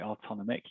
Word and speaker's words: AutonomIQ: so so how how do you actually use autonomic and that's the correct pronunciation by the way autonomic in case you were wondering um but how